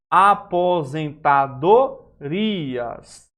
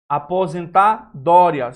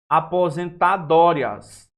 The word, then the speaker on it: aposentadorias: Se fosse assim junto, teria o acento no O. Teria a pronúncia aposentadorias. Não é, a pronúncia não é essa. Aposentadorias, não, é aposentadorias. A pronúncia não é rias, é aposentadorias. Veja que há aqui a presença de quem? Do hiato e não do ditongo.